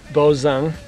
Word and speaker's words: Bozung: Name is Bozung. B as in boy, O-Z-U-N-G. And the best way to pronounce it is like Boz from Bozo the Clown and Ung like from Steve Young.